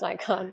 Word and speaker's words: Nikon: it was a 3 you say Nikon or Nikon Nikon it's definitely Nikon I hear people like Nikon no Nikon correct it's Nikon it's Nikon right definitely Nikon unless